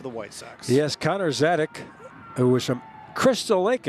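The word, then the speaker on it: Sadzeck: So Connor Zadek, pronounced Zadek, is spelled S-A-D-Z-E-C-K.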